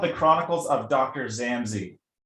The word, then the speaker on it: Zammsy: behind The Chronicles of zamy and am I pronouncing it right say it for a minut it's it's called The Chronicles of Dr zamy zamy Z um I got the idea back in